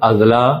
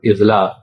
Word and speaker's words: اضلاع: یعنی غلط طور پر املاک، اضلاع اور اقساط وغیرہ بولا جاتا ہے، حالانکہ اس طرح